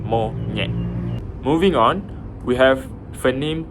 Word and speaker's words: monyet: Ny as in monyet, the way you would pronounce monyet.